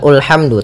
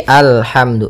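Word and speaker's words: الحمد: Nah, di sini bukan ulhamdu tapi alhamdu.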